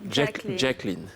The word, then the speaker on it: Jacqueline: Avec la bonne prononciation. Jacqueline.